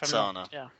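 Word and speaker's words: Cana: Is it Sana or Kana? I never know how to pronounce it. Lorik Sana. Sana.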